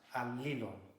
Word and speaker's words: Allilon: So Allilon is actually pronounced Allilon. Otonon, pieni basto me. So it's Allilon.